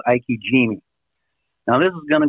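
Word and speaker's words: ikejime: So Ike Jime, first of all, you spell it like I-K-E, so Ike. Jime is G-I-M-E, Ike Jime.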